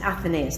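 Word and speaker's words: Athenais: And Faith, in Rebel Empress, when you're talking about your lead, who is it pronounced Athenaeus? Athenaeus, thank you.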